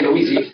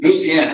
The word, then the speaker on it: Louisiana: are from Louisiana now that's how they say it in Louisiana they don't say louisi it's Louisiana at least down where my folks are from if you go up in Northern lisiana they do say Louisiana but anyway Louisiana